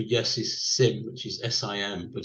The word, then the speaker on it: sim: So the Portuguese word for yes is sim, which is S-I-M, but it's pronounced sim.